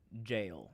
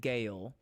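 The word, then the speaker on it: Gaol: English, but I I I pronounced it Gail for a long time until I heard a character in the game do a uh read a voice line and they said it was jail.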